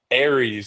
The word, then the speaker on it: Aries: And to kind of tie back in Harry's Aries, it's like an air like air that you breathe.